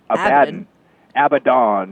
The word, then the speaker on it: Abaddon: Abaddon, yes.